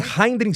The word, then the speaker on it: Heinrich: Bom, Anne, agora eu tô tentando pronunciar o nome do meio. Heinrich. É complicado. Heinrich. Anne Heinrich Sanders.